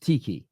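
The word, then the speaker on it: Txiki: going to see pep and is it pronounced Tiki is that how you pronounce his name yeah tixie yeah yeah ti ti he you're not going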